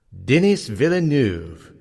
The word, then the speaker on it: Denis Villeneuve: Lee and Garrick are more on the correct pronunciation is denis villeneuve and johan Johansen now back to the show